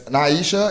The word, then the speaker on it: Naisha: I mean, Naisha. That's Naisha is how you say your name.